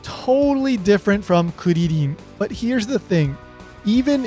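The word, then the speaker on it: クリリン: The R's in Kuririn aren't actually R's. They're just the best approximation of the sound that is being used in Kuririn.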